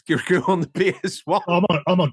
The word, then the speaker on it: Kirikou: And it is pronounced Kirikou.